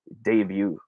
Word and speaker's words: debut: The proper way of saying this would be debut.